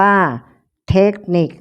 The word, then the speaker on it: เทคนิค: ภาษา อังกฤษ นะ คะ อ่าน ว่า เทคนิค สะกด ด้วย ค ควาย ทั้ง 2 ตัว ออก เสียง เหมือน ก ไก่ สะกด Take นิก ต่อ ไป นี้